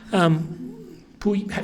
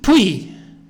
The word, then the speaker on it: Puyi: Puyi, say his name for me, Puyi? Qing dynasty. What is it? The Qing is pronounced Qing. Qing. Oh, no, Puyi.